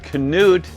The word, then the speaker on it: Knut: Hey everyone, I'm Scott Stokely and I'm here with Knut, and the K is not silent, it is pronounced yes. Knut Håland, one of my